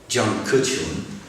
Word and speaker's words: Jiang Kechun: and then there is, let me do the pronunciation right, Jiang Kechun is a Chinese photographer, and then there is Nadav Kander, is an Israeli photographer.